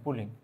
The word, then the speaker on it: Pauling: 1932 সালে বিজ্ঞানী পুলিং, আসলে আমরা বাংলায় লিখে আমি যদি একটু বলতে চাই, 1932 সালে বিজ্ঞানী পুলিং আসলে ইংরেজিতে এটা উচ্চারণটা ছিল PAULING, পুলিং।